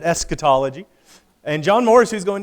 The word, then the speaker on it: eschatology: so this is as luke called it echotology john moore i think would pronounce it eschatology and john morris who's